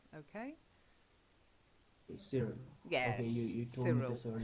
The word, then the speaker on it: Cyril: So just the first one is the name Cyril. I know it's a Y, but we don't say Cyril. It's Cyril. If you meet somebody and that's how they spell their name, it's Cyril, okay? Cyril.